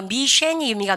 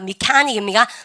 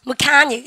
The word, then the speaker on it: mechanic: 그래서 이때 근데 영어는요 미쉐니입니다. 미카닉입니다. 미카닉 세치 발음 크 발음입니다. 크리스마스처럼 그 크리스마스처럼 근데 발음 그 미카닉.